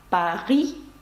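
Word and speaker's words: Paris: вимовляється моб столиця Франції Париж насправді пишеться як паі з літерою с наприкінці вона приголосна і не вимовляється але є виключення є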